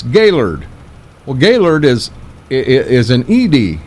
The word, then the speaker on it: Gaylord: And he said, because you're calling it Gaylord, and that's not how you pronounce it. It ain't? No, it's Gaylord.